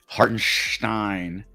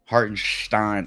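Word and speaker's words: Hartenstein: feel like this year they've really really been pronouncing it with the Stein in there and I don't know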